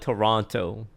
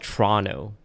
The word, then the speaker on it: Toronto: We don't call it Toronto though. We call it Toronto.